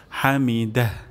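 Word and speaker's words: حمده: হুলিমান সামি আল্লাহ হুলিমান হামিদাহ হামিদাহ এখানে আমাদের হা হয়ে যেতে পারে হামিদা তাহলে এখানে আমরা হা উচ্চারণ করব গলার মাঝখান থেকে হামিদাহ হামিদাহ এবং শেষেও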